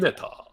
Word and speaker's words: Mineta: Next, we got Mineta Mineta. from My Hero Academia. That's how you I- pronounce it in Japanese.